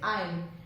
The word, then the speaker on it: aisle: S इसमें silent है, इसको हम कैसे प्रोनाउंस करेंगे? We'll say aisle and not aisle. ये aisle नहीं है, it is aisle. इसमें S silent है. Remember this, S is silent here.